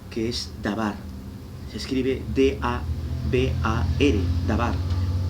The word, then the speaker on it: dabar: Se escribe D-A-B-A-R, dabar, y aparece en Primera de Reyes.